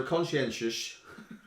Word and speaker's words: conscientious: So conscientious is spelled. It's spelled C-O-N-S-C-I-E-N-T-I-O-U-S. There's no sh in it. Conscientious. There's no sh in it. Conscientious. So all the phonics people will be like, it's spelled wrong.